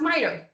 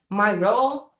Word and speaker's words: Miro: Okay, the next one, we have Miro. Miro, however you prefer to pronounce it, is a very interactive tool, software, well, website, to be honest, that everyone can be connected.